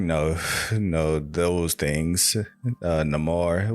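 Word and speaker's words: Namor: know those things uh Namar well he's neyar but using the the way that he was it was spoken um is pronounced no more in this movie um it was just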